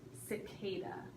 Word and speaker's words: cicada: it is starts with a C and it's pronounced cicada okay it is above exactly my definition says